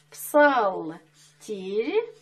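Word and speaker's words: Псалтирь: Пишем «Псалтырь», а читаем «Псалтырь», потому что очень трудно выговорить «и» между двумя мягкими согласными. Поэтому мы произносим «ы», так принято.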